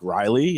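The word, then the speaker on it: Wryly: And we also like Riley is another one, and that's spelled W-R-Y-L-Y.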